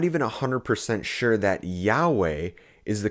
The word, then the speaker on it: Yahweh: was pronounced Yu however the majority of linguists today agree that Yahweh is most likely the way that the sacred personal name should be pronounced